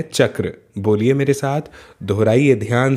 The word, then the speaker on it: चक्र: च और क्र से मिलकर के ये बना है। इसका उच्चारण है चक्र।